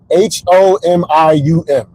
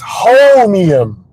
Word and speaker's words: Holmium: Homium. Okay, let me Google this real quick. I'm gonna Google it real quick. I'm gonna come back. Okay, I was pronouncing it wrong. It's Holmium.